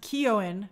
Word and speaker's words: Keoghan: Barry's name is pronounced Keoghan.